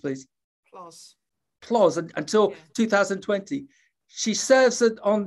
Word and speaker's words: PLOS: One, how's that pronounced, please? PLOS until 2020.